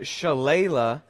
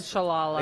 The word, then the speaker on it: Shalala: It's Donna Shalala. So we said Shalala. Yeah, I mispronounced the name, so that's my bad.